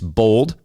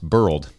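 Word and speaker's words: boiled: It's bold, B-O-W-L-E-D, peanuts, silly me," end quote. Well, actually, sorry, another correction here. It's pronounced burled, at least in certain parts of my home state of Kentucky.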